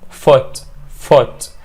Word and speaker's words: foot: It's a low vowel or it's a short vowel which is sound, okay? بنقول كده foot, right? So دي برضه في كلمات بتتنطق كده اللي هو ال O double O ولكن بتنطق short vowel وال sound اللي هو foot بنخطفها كده مش foot، لا foot, right? زي foot, good, look, book, swash and stood. I stood by your side, okay?